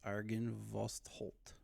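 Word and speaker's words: Argynvostholt: Yes, Argon Vostold.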